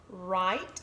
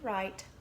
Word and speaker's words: write: sentence at E we write is our trick word it has WR the W is silent and I hear right ite we write many and then we